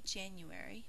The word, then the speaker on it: January: month of the year in this word the first syllable is accented so we say january but we think to